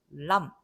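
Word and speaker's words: Lamm: 독일어에서는 람 이렇게 됩니다. 자, 영어에서는 여기다 be를 써놓고 묵음을 만들어 버리는데 우리는 그런 거 안 한다. 우리는 쓰면 다 읽는다. 그래서 묵음 be 없고요. 그냥 람 하고 읽습니다.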